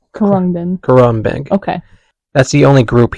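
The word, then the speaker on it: Khruangbin: Chapel rone win this kin is how you pronounce that kin Corin kin Corin okay that's the only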